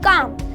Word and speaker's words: calm: अगर मैं बोलूँ काम, तो यहाँ पे CALM आया है, यानी कि M से पहले L आया है, L हो जाएगा साइलेंट और इसे हम पढ़ेंगे काम, CAM।